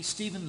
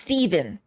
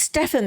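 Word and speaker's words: Stephen: If I remember correctly, this must be Steven Lane's room. Oh, it's pronounced Steven. I thought it's Stefan because of, you know, The Vampire Diaries.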